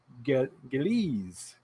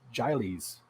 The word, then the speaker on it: Gillies: Elizabeth Gillies. I would have totally said Giles because that would have been way off.